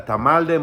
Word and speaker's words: tamale: up it's Tamal and in English it's tamale that's like saying instead